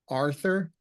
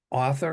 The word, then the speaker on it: Arthur: or sometimes people put Arthur like the author of a book I know I I always mispronounce it it's author and Arthur just don't call me